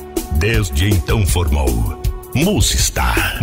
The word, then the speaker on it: Musistar: A pronúncia ainda não estava como deveria ficar. Foi então que definitivamente seus idealizadores retiraram a letra C da palavra music e uniram o star. Desde então formou Musistar. Musistar.